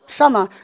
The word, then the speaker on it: summer: M이 겹쳤죠. 발음 몇 개 한다고 쌤이요? 한 개. 그래서 썸머입니까? summer.